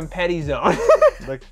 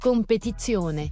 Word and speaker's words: Competizione: The Competi Zone. It's pronounced Competizione.